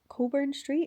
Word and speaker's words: Cockburn Street: booth thing that's on Coburn Street. It's spelled Cockburn Street, but I think everyone calls it Coburn Street. But let's be real, it's Cogburn Street.